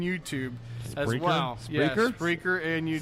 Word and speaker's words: Spreaker: Yeah, Spreaker and YouTube. Sound like you mispronounced speaker for a second.